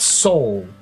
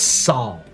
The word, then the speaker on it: Sol: It's not soul, it's Saul.